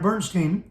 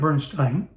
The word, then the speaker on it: Bernstein: first time production of by Leonard Bernstein or Leonard Bernstein how how you choose to pronounce it it's your choice either works and also either works